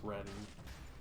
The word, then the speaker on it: Reading: They don't pronounce the G in Reading, by the way. It's Reading, but they're very nice.